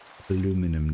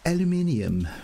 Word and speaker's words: aluminium: I don't know what niter, and I'm really not 100% convinced on what aluminum does. And I know that's. It's aluminium. No, it's spelled aluminum.